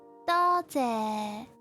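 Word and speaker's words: 多谢: Thank you in Cantonese pronounced as 多谢. Okay, remember 多谢 lower tone. Higher and lower.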